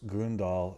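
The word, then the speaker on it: Grøndahl: And then it's a hyphenated last name, so the other half of it is Grundahl. It's Gro with an umlaut, Ndahl.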